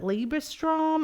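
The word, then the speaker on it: Liebestraum: he is playing they and they title it liebra Strom I think this is that did I say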